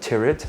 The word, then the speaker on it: Tyrwhitt: It is spelled Tyrwhitt, like spirit.